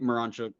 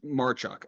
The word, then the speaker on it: Marchuk: lower because I think maranuk not maranuk that's Atlanta um Mar marchuk okay I get that pronunciation messed up all the time